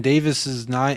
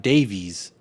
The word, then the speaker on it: Davies: Ben Davies is Ben Davis's name right it's Welsh and it's pronounced Davis not Davies but see I feel